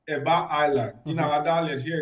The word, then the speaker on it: Eba: But Eba Island, which is correctly pronounced Eba Island in our dialect here in Ondo State, is in Atijere, Ilaje local government of Ondo State.